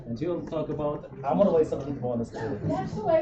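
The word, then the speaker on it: Amarbayasgalant: Nancy Steinhardt from University of Pennsylvania, and she will talk about Amar Vaisakh Monastery. That's the way it's supposed to be pronounced.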